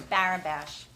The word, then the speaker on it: Barabash: again talking about the Elizabeth Bish barabash I was laughing because I would pronounce it wrong it's barabash apologies um extending the